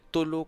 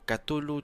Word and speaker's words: Cthulhu: Pandemic, el reino de Tulu, Cthulhu, Chulu, como lo prefiráis pronunciar, porque creo que no existe ninguna pronunciación oficial.